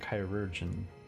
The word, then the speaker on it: chirurgeon: That's how you say it, chirurgeon.